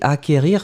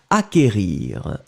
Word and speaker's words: acquérir: peut être synonyme d'acheter d'obtenir d'avoir un ici acquérir faites attention parce que il n'est pas très facile à écrire on l'écrit à sait qu une accent aigu r ir d'accord donc acquérir acquérir le sait qu en fait vous ne